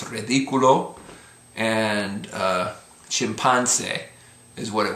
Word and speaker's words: ridículo: Similarly, it would be ridículo, but because of the accent, it's ridículo.